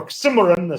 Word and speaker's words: oxymoron: woodhouse and shakespeare well in oxymoron as people know um or oximeron some would prefer to pronounce it uh is is